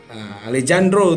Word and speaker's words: Alejandro: Alejandro. Alejandro tulisannya, tapi kalau dalam bahasa Meksiko itu bacanya Alejandro.